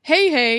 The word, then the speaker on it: Heihei: See, I wouldn't pronounce that Hey. Well, no, but I'd pronounce that Hi.